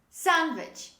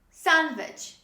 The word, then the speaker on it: sandwich: fast food this is sandwich sandwich when you drop the letter d when you say this word it becomes much easier